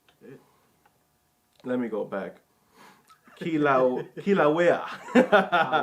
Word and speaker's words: Kilauea: Kilauea.